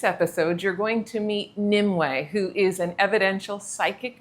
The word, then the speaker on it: Nimue: Uh, it's Nimway or Nim. Nimbles also works. I answer to Nimu as well, but Nimway is how you pronounce it.